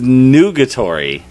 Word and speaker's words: nugatory: It's Nugatory for those spelling at home, but it's pronounced nugatory, which is very similar to negatory, I guess, and also reminds me a little bit of like the center, the nougaty center of candy bars.